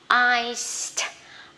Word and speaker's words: iced: S là vô thanh thì mình sẽ đọc là t. Đó. Iced, iced tea, iced tea.